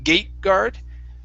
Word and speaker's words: gateguard: a stop t saying gateguard But okay it sounded like you were saying gay Gayguard Okay when you pronounce the t okay you have to pronounce half of it So it sounds like